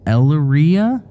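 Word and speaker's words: Elyria: In 2015, when I was about 11 years old, my family and I moved into a house in Elraya, I believe it's pronounced.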